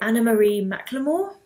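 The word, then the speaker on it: Anna-Marie McLemore: is called deep and darkest red and by Anna Marie McLemore that's how you say her name um basically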